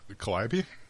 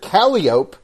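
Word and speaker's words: calliope: Collab. Is that what it's That's how it's pronounced. Everyone over where I live seems to think that Americans pronounce it calope and I this is the thing that I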